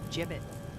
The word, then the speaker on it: gibbet: had some gibbets left over jbits what it's pronounced jibbit the heck is a jibbit yeah well no